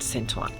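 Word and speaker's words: Saint: in English but uh we've been hearing it on the subway and everything then they pronounce it San so there you go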